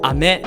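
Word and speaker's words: 飴: And even ame would be rain, but ame would be candy.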